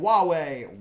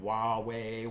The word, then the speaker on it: Huawei: unreasonable suppression of Chinese companies like tech giant Huawei Huawei I did figure out how to pronounce that one Huawei Huawei Huawei uh so basically the country that